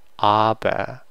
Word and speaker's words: aber: And when A is by itself, it's more of a, just like it sounds, aber. It's usually it's pronounced like aber.